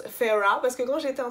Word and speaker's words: Feyre: le lis en anglais, je le prononce quand même faire, et elle m'a dit ouais s'il te plaît et tout, par contre prononce-le Feyre, et elle a raison, ça se prononce Feyre, du coup faut que